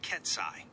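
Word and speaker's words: psi: example quiskit superposition states notation s pronounced ksai.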